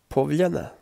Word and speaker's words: Povljana: in English language and when it's added after the letter L or n then it's pronounced as ye and it's strange right